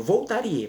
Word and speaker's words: Voltaire: A gente escreve a palavra Voltaire, escrevendo Voltaire, mas a pronúncia é Voltaire.